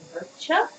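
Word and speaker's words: Murchadh: like it's got the D at the end, which I know is just there to change the pronunciation of the A. And frequently it's not pronounced at all. It's like Murcha.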